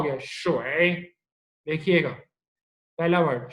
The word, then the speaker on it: 水: अब आप किसी पे भी क्लिक कर दो, आपको वो साउंड प्रोनाउंस करनी आनी चाहिए। अब ये क्या है, वे और श, क्या हो गया, शोए, देखिएगा पहला वर्ड शोए, 水， नेक्स्ट शोए, 水， शोए।